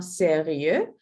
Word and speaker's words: sérieux: For if we pronounce this one sérieux, but this one sérieuse.